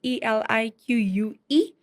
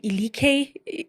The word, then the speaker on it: Elique: That's ELIQUE. People are always like, how do you spell Elique? You know, people pronounce it Elike.